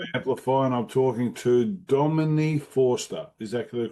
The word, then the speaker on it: Domini Forster: It's here, Amplify, and I'm talking to Dominique Forester. Is that the correct pronunciation of your name?